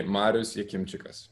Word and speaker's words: Marius: deal out of it people call me marous marias marius i'm fine with whatever is comfortable for people so again the correct pronunciation is correct pronunciation would be marusi very good very good